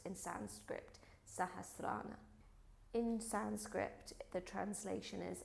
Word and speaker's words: Sahasrara: the seventh chakra, which is the Crown Chakra, pronounced in Sanskrit, Sahasrara.